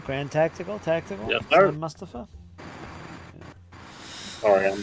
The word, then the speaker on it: Mustafa: I was thinking that Sam Mufasa. Is that how does it say his name? Mustafa.